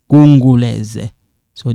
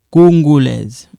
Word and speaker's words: congolaises: Pauline et Justine sont congolaises. Pauline et Justine sont quinoises. Okay? So when you take a look, Pauline est congolaise. So this one is a silent, but you write it.